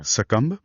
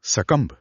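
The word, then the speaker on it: succumb: सकंब एस यू सी सी यू एम बी इसमें अंत में साइलेंट बी है। जैसे कॉलम में एन था। हां, कुछ वैसा ही। बी लिखा जाता है पर बोला नहीं जाता। सकंब okay.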